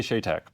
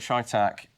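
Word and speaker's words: CheyTac: have a spare Barrel caliber shac however you want to pronounce it I say sha Tac but that's fine so there is allegedly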